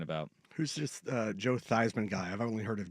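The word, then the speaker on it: Theismann: only heard of Joe theeman Joe theeman yeah boy you want to talk about Big Time backfires changed the pronunciation of his last name to try and win the Heisman and didn't win the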